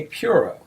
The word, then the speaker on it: puro: What is a puro?